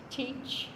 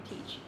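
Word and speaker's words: Teich: Teach, I think that's how you say it, Teach, T-E-I-C-H.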